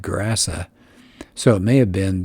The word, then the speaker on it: Gerasa: And it says the English pronounce it Cursa, but a Hebrew word translates it into Greek, and it would sound like Gerasa.